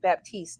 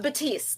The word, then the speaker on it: Baptiste: And today we have with us Baptist. Did I say it correctly? Uh Batiste. The P is silent.